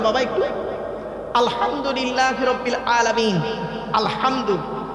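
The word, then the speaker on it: الحمد: আলহামদু, এই গলার ভিতর থেকে হেটা উচ্চারণ করবেন।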